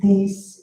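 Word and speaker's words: देश: It's pronounced Desh in Hindi and Punjabi, but it's the same word.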